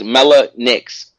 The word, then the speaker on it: Mellah Nix: Yeah, it's Mellah Nix.